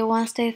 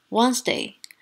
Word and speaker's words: Wednesday: 第一个，很多人会读成 Monday, Tuesday, Wednesday, Thursday, Friday。